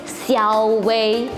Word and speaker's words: Siowei: Let me know if you think this looks like a legit English name and easy for non-Chinese to pronounce. Okay, it's Xiaowei.